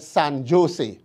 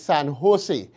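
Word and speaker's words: San José: was going he said san jose he was told the word is san jose that the j is pronounced like an h when asked where how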